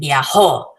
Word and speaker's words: viajó: Viajé and viajó, really accenting where the accent is.